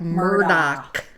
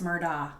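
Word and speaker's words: Murdaugh: murder murder the murderer how do you say that Murdock it's Murda Murda the guy who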